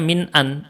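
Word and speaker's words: من أن: Nun terus Hamzah Nun maka bacanya Min an atau Min Anna bukan Man ini tidak tidak dibaca Man ya Min an takunu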